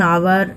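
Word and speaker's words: hour: इसका 3 पॉइंट है, एन आवर, an honest man, N hotel. तो इसमें एच साइलेंट है, इसलिए यहाँ पर उसका उच्चारण वॉवेल से ही होता है, इसलिए इसमें एन लगाया गया।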